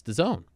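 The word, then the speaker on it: DAZN: d AZN personally I think it should be pronounced dasn't but it's the zone and you can download it on your phone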